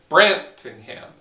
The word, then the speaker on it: Brantingham: So, for example, in my name, Brantingham, it's stressed, unstressed, unstressed.